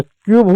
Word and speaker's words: cube: उसी प्रकार एक और शब्द है प्यार बच्चों CUBE, यू है, यू के बाद कॉन्सोनेंट है, कॉन्सोनेंट ई है, तो ई साइलेंट होगा, यू का यू उच्चारण करिए, तो आधा क कर दो, यू कर दो, बी का ब कर दो, हो गया क्यूब, हो गया, तो क्यूब